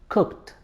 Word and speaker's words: cooked: Well, it has to be he cooked. Cooked. The ed is pronounced as t. Well, when ed is followed by sounds like p, k, ch, sh, s, f, we pronounce ed like t.